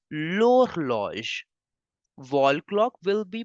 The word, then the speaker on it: l'horloge: So you know the rule very well that H is considered as a silent vowel. So we have to start the pronunciation from the next alphabet, next letter. So you will say wall clock in French simply as l'horloge.